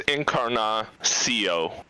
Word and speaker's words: Encarnacio: It's Encarnacio. So it's just like how it looks, but CO at the end instead of KO.